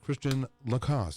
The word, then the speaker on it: Christian Lacosse: right von Humboldt meet Christiane Lacoste am I saying your name right yes okay really you're the first person to say it right oh well thank you